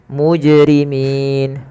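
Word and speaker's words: مجرمين: memantulkannya contoh Bil mujrimin harusnya Bil mujj mujrimin kesalahan yang kedua menambahkan Hamzah contoh mujrimin itu menambahkan Hamzah padahal tidak boleh menambahkan Hamzah kemudian mfal Min sebagaimana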